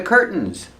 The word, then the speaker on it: curtain: We don't say curtains. The second syllable is not stressed, so you have two pronunciations that are correct. You can say curtain, tin, curtain, or curtain, curtain, where you make the stop T and it falls to an N.